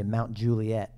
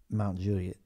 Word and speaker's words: Mount Juliet: when I first moved here I would say Mount Juliet Tennessee like everyone who would say it if they didn't know it's pronounced Mount Juliet I can't even say it like locals say it Mount Juliet mount Juliana and the sea I miss I'm